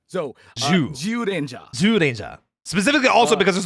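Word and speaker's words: Zyuranger: specific contents uh context the Z is pronounced with a J so zja zja specifically also because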